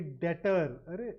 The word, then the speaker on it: debtor: Some of them are very debtor. So it is number 1, debtor. The B is silent here, and that's spelt absolutely correctly.